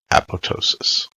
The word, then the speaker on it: apoptosis: and its intended pronunciation they specified the greek use of the silent p with emphasis on the penultimate syllable the use of a